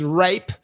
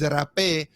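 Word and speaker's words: rapé: a h so an english person will probably pronounce it rape right it's the same spelling with a h at the end but with an accent on the e so the the word is rape um and it's it's also plant medicine that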